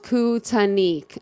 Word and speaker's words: Kootenai: Oh, it's pronounced Kootenai.